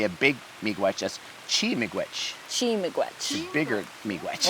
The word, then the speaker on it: miigwech: I'd say miigwech. Miigwech. Yeah, I Miigwech. mean I don't say it, but I mean that's in Anishinaabe Moine is miigwech. Miigwech. And if you want to say a big miigwech, that's Chi-miigwech.